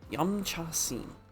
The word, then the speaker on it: Yumcha Sin: Well, it's said in that way, but it's not pronounced that way. Yumcha Sin. I think it's more like scene. Yumcha Sin.